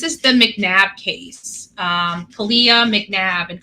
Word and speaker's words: Kalia: the McNab case um Kalia McNab and kalia's name is spelled like Callie CLA c l c a l i and then yeah you know y a so Kalia um so I'd like